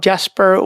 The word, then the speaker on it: Jesper: and they're pronouncing it yesper that's how you pronounce it in Swedish a J in Swedish is a y yeah I'm a lot of Jasper when I work I